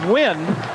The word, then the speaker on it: Nguyen: It's pronounced Nguyen.